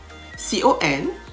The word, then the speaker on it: conscious: is silent silent seaworlds conscious c-o-n-s-c-i-o-u-s conscious the second c is silent the cycle d-i-s-c-i-p-l-e f